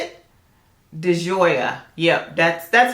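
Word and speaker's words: di Gioia: this is ocean how do you say it deoya yep that's that's how you say it y'all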